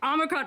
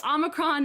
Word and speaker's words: Omicron: a try hexy omicron omicron perfect so omicron is the the guardian actually explains that there are two answers and omicron strangely is apparently the american pronunciation although you were of